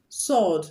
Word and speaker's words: sword: Sword. The W is also silent.